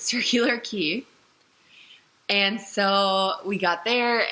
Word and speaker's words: Circular Quay: got to circular key which is spelt like circular quay but I learned that it's circular key and so we got